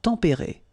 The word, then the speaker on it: tempérés: Les climats tempérés.